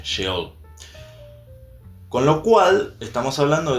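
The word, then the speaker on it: Seol: Perdón, dije SH, es S-E-O-L, la H no la tiene. Se pronuncia como si fuese una H, Sheol.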